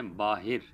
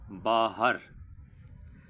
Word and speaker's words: باہر: عام غلطی ہے، اور یہ لفظ بولتے ہیں باہر، اور درست تلفظ ہے باہر۔ باہر کی بجائے باہر بولنا چاہیے۔ اس کے بعد ایک